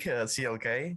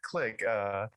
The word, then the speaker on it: CLK: CLK. So it's not Click.